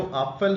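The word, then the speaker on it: Apfel: यहां पे देखिए ये ए उमलाउड है तो उसको हम ए प्रोनाउंस करेंगे। जो अपफल है उसमें हम आ बोलेंगे क्योंकि ये विदाउट उमलाउड है और जो एफल है इसमें ए उमट है तो उसको इसके लिए हम इसको एफ एफल बोलेंगे।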